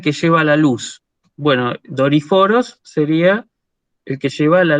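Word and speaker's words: δορυφόρος: tengo que escribir, o sea, tengo que leer Doriforos.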